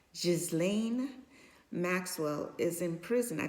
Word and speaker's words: Ghislaine: But if that's the case, should his girlfriend, I believe his girlfriend, I think her first name is pronounced, it's like French, like Jizzlane Maxwell is in prison, I believe, in the United States.